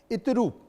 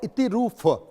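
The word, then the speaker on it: Iturup: जैसे इतिरूप और इतिरूफ, मतलब एक में पा रहा है और एक में फा रहा है।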